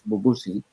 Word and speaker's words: Bubusi: the tip on hands which is a pronunciation that would be in English as bubu see and then we are